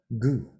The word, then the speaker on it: 구: This is just the character for the number 9, which is pronounced gu in Sino-Korean.